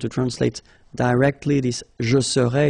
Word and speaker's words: serais: translate directly this je serais, it's I would be. Okay, but then in French we've got only one form like that. Remember, so AIS, but then you don't pronounce the final S.